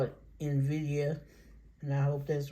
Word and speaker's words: Nvidia: on now this one I mess up the pronunciation I go I hear other people messing it up too but I call it Nvidia and I hope that's right but may not